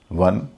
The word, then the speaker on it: won: TON टन, WON वन, MON DAY Monday में जो MON आता है मन, यहाँ भी MON का उच्चारण मन होता है।